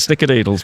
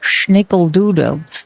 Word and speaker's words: snickerdoodle: Big takeaway, the guacamole story and snickerdoodles. But anyway, He just so confuses me with the way he pronounces the word schnickeldoodle. Like it's like from Austria or something, but it's snickerdoodle. It's like very American.